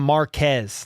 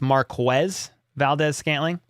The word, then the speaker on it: Marquez Valdez-Scantling: People call him Marquez, like all the time, and it's Marquez Valdez-Scantling.